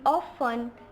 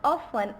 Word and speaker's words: often: We often tend to pronounce the word often as often, which is wrong. Its right pronunciation is often.